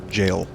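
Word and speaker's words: gaol: That G-A-O-L isn't Goal, it's actually jail. That's how it's pronounced, I've learned. It's an old-timey word.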